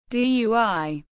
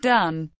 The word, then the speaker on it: Dui: Dui, not pronounced dun, spherical dish with a cover and 3 short legs.